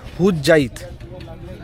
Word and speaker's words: হুজ্জাইদ: আচ্ছা, আমরা যেটা বলছিলাম, জায়গাটার নাম হচ্ছে হুজ্জাইদ ঘাট, হুজ্জাইদ। আমরা উচ্চারণটা ভুল করছিলাম এতক্ষণ।